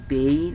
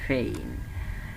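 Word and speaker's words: pain: আর একইভাবে যেটা আমরা উচ্চারণ করতাম পেইন, এখন হয়ে যাচ্ছে ফেইন।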